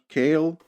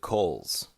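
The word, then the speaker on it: Koehl: by the way that guy's name he's matt kale or matthias kale his name is spelled k o h i pronounce it kale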